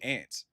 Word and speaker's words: aunt: Like, I know, like, even in like certain parts of Cleveland, like my grandma, she pronounces it ant. She pronounces it ant and everything.